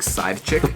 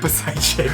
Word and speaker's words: Psychic: Did you just call Psychic Side Chick? Psychic. Psychic.